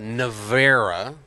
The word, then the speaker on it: Nevera: But So no, far, that's all they're They have a known new car out called the Nevera, I believe is how it's pronounced. It's Never A is how it's spelled.